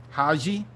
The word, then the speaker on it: Haji: Haji?